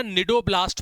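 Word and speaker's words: cnidoblast: इसके अंदर ना निडो ब्लास्ट पाए जाते हैं। जरा देखना इसको ध्यान से। निडोब्लास्ट ध्यान रखिएगा। एस जो है इसके अंदर साइलेंट है।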